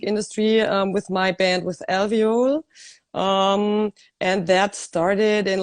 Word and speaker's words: Alveole: So the correct pronunciation of your band is Alveole, right? Yes, it's alveole. It's in English. In Germany, the people sometimes say Alveole. That's the German pronunciation.